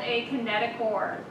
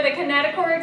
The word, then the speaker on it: kinetochore: Ring structure on each sister chromatid called a kinetochore. C-H-O-R-E, but it's not pronounced chore. It's pronounced core.